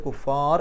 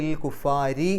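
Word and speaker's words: الكفار: ശബ്ദ് മണിക്കുക ഇലൽ കുഫാർ അവിടെ പാരായണം നിർത്തുകയാണെങ്കിൽ റാഇന് സുക്കൂൻ ഇട്ടിട്ട് കുഫാർ എന്ന് പറഞ്ഞിട്ട് നിർത്തുക നിർത്താതെ പോവുകയാണെങ്കിൽ ഇൽ കുഫാരി എന്ന് പറയുക റാഇന് കസർ ആയതുകൊണ്ട് രി എന്നുള്ള ഉച്ചാരണം കൊടുക്കുക ലാഹുന്ന നുന്റെ ശബ്ദം മണിക്കുക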